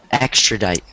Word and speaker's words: extradite: Extradite. Extradite. Good. Extradite. Extradite. Yeah, extradite. Two syllables, extra and dite. So, extradite. Extra or extra? Extradite. No, you're forgetting the second syllable. It's extradite. Extradite.